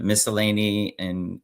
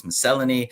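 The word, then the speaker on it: miscellany: I think in America it's pronounced it's pronounced uh miscellane British English it's miselony and the character himself prefers miselony.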